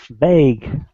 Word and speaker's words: vague: very close to it the last syllable actually is is is a different one they actually it's only one syllable what am I saying uh the last sound so v g vague yeah have you heard